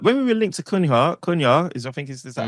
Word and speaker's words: Cunha: When we were linked to Cunha is that how we pronounce it? Yeah. Cunha.